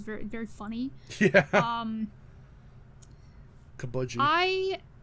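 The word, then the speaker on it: Cabaji: very funny yeah um kabudi I kabudi Jesus Christ I don't know why he decided to pronounce his name like that it's kabaji um when when I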